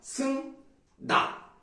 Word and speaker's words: 승낙: 첫 번째 예를 보시면 승낙 이거 낙이라고 하는게 맞습니다 근데 우리가 평소에 그냥